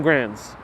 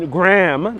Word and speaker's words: Graham: the gram and the grands so this is graham avenue is also gram not grand we gotta now pronounce those d's and those ams graham is avenue puerto